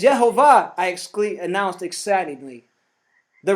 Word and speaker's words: יְהֹוָה: in the Alo codex the true pronunciation of elohim's name is yahovah I ex announced excitingly